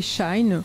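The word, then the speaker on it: Shein: dernière info du jour c'est pour la société shine ça s'écrit shan5 de la marque qui fait un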